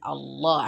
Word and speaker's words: Allah: So the second lam has shadda because you have to pronounce it Allah, and because it is a son letter.